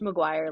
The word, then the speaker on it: Maguire: Pronounced Maguire like Lizzie. Like Lizzie.